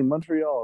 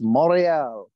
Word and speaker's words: Montreal: you're in an airport yeah I'm in lovely Montreal right now you see that's how it's pronounced by the way folks he's doing it correctly it's Montreal right unless you're a French Canadian it's morial oh really but Montreal Montreal yes this is